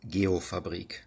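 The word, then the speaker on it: Geofabrik: So the German company Geop Fabric, if it is German, it's pronounced Gop Fabri. Thanks, Mo. Gay Fabri has done some excellent work subdividing open street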